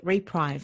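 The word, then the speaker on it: Repreve: And I understand that it uses a fabric called Reprieve. Is that how you pronounce it?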